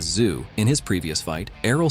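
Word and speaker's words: Tszyu: after Sebastian won against Tim tuu pronounced as zoo in his previous fight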